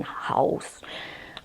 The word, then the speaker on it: Haus: It's called Haus Labs, not like house, it's spelled like German, Haus.